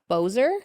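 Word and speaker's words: Boeser: Um, they signed Brock Bozer. Okay. B O E S E R. Is that how you say it? Yeah.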